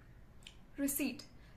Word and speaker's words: receipt: एंड the last word, रिसीट, जिसे हम हिंदी में रसीद कहते हैं. यहाँ पर पी साइलेंट होता है. So this is रिसीट.